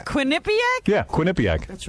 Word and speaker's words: Quinnipiac: to do some college show in quinnipiac yeah quinnipiac that's how you say it it's quinnipiac yeah quinnipiac that's right am i right it's